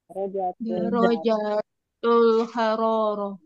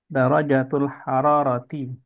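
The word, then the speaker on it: درجة الحرارة: Darajatul haroroh. Ya, darajatul hararati.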